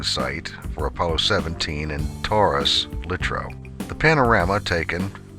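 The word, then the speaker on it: Taurus-Littrow: expertise on that subject the term is pronounced Taurus lro not teras and no I don't think it makes any difference at all whether the person is British or American po 1 is Landing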